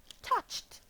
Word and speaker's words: touched: This is the word touched. What is the sound? Yes, it is the t sound.